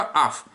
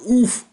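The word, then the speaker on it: אויף: То есть вот это заумное ойф, которое вы читаете, за это дам по губам. Это только аф.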